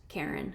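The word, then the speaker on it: Caryn: Um I'm pretty sure her name is pronounced Karen. It's spelled different.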